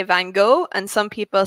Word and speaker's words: Van Gogh: Van Gogh. And Vincent Van Gogh. What's interesting is we pronounce Gog as go. Correctly, so you pronounce it like Van Gogh.